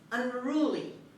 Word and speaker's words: unruly: vape so let's get started let's start with the first word unruly unruly unruly the stress is on r on the second syllable as you mean rule